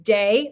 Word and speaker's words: de: i go from myself i have to describe it like um day like the day outside i and then i